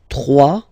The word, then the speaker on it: trois: Trois. Final s not pronounced. Trois. Quatre.